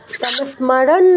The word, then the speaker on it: স্মরণ: তো দন্তস অর্ধেক উচ্চারণ হবে। ম পুরো উচ্চারণ হবে। দন্তসতে টাচ আর ম পুরু স্মর আর পুরুটা বলতে হবে। ন এর নিচে কোন হসন্ত নেই স্মারান বলব না স্মারানা একদম ঠিক আছে ন এর উচ্চারণ করতে হবে এমনি ঠিক আছে নতে হচ্ছে মানে